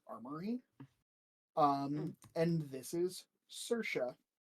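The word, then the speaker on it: Saoirse: I love that name though cour can you spell it again um uh s a o i r s e cersa thank you because why not say the Irish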